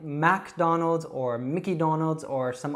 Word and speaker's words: McDonald's: So you can practice saying that again, Donald, McDonald's.